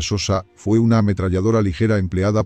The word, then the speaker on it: Chauchat: la chauchat se pronuncia Sosa fue una ametralladora ligera